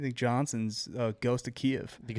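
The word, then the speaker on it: Kyiv: Or Kev. What? I don't I don't even know how to pronounce that at this point. Kev is the Ukrainian pronunciation, but I just don't care.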